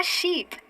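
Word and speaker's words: sheep: और यहाँ आ गया आपका शीप यानी कि बकरी। देखना वहां पे था शिप यानी कि जहाज, और यहाँ है शीप यानी कि बकरी।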